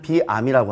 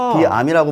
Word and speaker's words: Veeam: 비암으로 뱀이라고 읽나? 네. 그런 것도 많았을 것 같아요. 처음에는. 네, 그죠? 맞습니다. 그러니까 저희 회사의 어원을 좀 설명을 드리면 네. 유럽에서는 VM, 가상머신을 비암이라고 합니다. 비암이라고 말을 하고 그래서 저희는 2008년도에 VM웨어 백업이 없을 당시에 네.